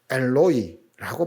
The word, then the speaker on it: 엘로이: 하지만 아람어 원문으로 보면 이 말은 엘로이라고 발음하는 것이 더 정확합니다.